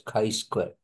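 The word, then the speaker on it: chi-square: Kai Square distribution although written as cheat actually pronounced as Kai Square in distribution as you see it has an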